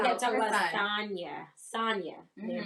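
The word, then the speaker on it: Sanya: Sonya.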